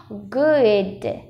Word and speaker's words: good: Âm này, cái âm u này, u ngắn này, à, mình sẽ nói không phải là u mà cái miệng mình nó sẽ hơi mở ra. U, u, u, g, u, d, good, good. Nếu mọi người để ý thì mình nói cái âm này không hề đóng miệng luôn, miệng lúc nào cũng mở.